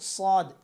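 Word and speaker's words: ص: তারপর হচ্ছে সদ। সদ হচ্ছে জিহ্বার আগা এই নিচের এই আগা দাঁতের আগার দিকে থাকতে হবে, নিচের সামনে নিচে যে দুই দাঁত আছে এটার আগার দিকে থাকতে হবে। এটা সদ।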